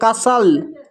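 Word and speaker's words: castle: तो अब देखिए यहाँ पर TLE एक साथ है, यहाँ पर भी टी साइलेंट है, तो इसको पढ़ते हैं ब्रिसल, इसको पढ़ते हैं कसल, इसको पढ़ते हैं हसल।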